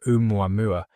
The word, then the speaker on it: ʻOumuamua: The name is pronounced roughly as o with emphasis on the first syllable of each mua.